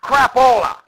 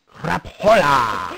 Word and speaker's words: Crapola: Pronounced Crapola. Ah, yes, Crapola. Crapola. Crapola. Got it.